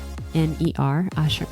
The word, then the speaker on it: Ochsner: Oshner isn't phonetically spelled.